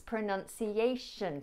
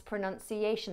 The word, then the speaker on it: pronunciation: Pronounce, pronounce, pronounce pronunciation, pronounce pronunciation.